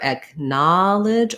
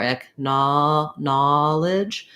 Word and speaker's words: acknowledge: for the ah vowel these two vowels have merged in some places in the u.s and so you may hear acknowledge or echna knowledge i think i do something a little in between i'm not really doing a strong ah in this word like saw but if i think about the word gnaw like to gnaw on a bone and acknowledge i am using the same vowel for both of those so i use the